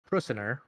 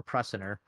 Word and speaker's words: Prusiner: So now Stanley Prusiner, I think I'm pronouncing that right, or Prusiner, he's the one that coined the term prion, and he actually pronounces it prion, in 1982.